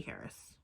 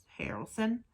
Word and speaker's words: Harrelson: also got um um woody harris harris harrelson that's how you pronounce it okay um and it